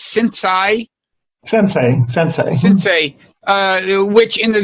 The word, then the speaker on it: sensei: But in addition to that, you is it pronounced sensei?